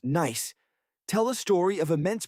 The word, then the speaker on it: gneiss: These rocks, primarily granite and a fascinating stone called gneiss, pronounced nice, tell a story of immense pressure and heat.